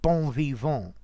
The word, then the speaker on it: bon vivant: yeah but well um the problem is in french these final syllables these final consonants disappear so above evolve this